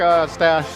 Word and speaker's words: Ostach: All right, we've been visiting with Ostach, rhymes with mustache, and he says, social